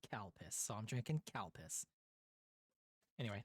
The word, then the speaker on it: Calpis: Uh, because they didn't want to put Calpiss on a bottle because the only way to pronounce it is Kalpus.